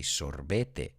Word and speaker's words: sorbet: You say sorbete. I think we say sorbet. We don't pronounce that E-T, just like the word filet or ballet.